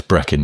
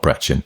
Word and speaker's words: Brechin: I grew up in northeast Scotland in a little town called Brechin, where he says, note the CH is as per lock, not chin. So, yeah, it's Brechin, not Brechin.